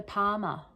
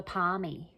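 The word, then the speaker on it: parma: Just tell us that they called it a Palmer. All right. So, when you're from Queensland, apparently a a chicken parmesana or a chicken parmesan, however you want to pronounce it, is a palmer, not a palmy.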